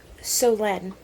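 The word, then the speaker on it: Solène: pronunciation of her name it's soen because she's French I completely forgot that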